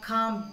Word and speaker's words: calm: at this word again what is the silent letter in this word tell me which is the second letter l so how can you read it calm down count okay the tiger